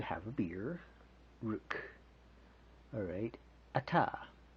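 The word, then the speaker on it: Atah: Alright, Ata, et, like kind of like an Ozark statement, like he ate the whole dang thing, ma.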